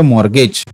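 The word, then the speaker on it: mortgage: ते गहाण म्हणजे असतं मॉर्गेज टी सायलेंट असतो मॉर्गेज आणि पार्टी असते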